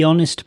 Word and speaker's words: honest: interesting book next the honest man the honest man no h is a consonant but the sound is a vowel sound the honest man H is silent in this word the honest man next